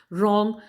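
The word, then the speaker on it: wrong: Second देखिए, रॉन्ग, यानी ये स्टार्ट तो W से हो रहा है लेकिन हम इसको रॉन्ग नहीं बोलते, हम इसको रॉन्ग बोलते हैं। तो ये जो W है हमारा वो हो गया साइलेंट लेटर।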